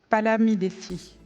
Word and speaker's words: Palamidessi: Alors, j'espère que je ne vais pas me tromper dans la prononciation. C'est Palamidesi.